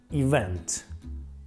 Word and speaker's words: event: В ударении говорят event, но это неправильно. Давайте повторим несколько раз, чтобы лучше запомнить. Второй слог ударный – event, event, event.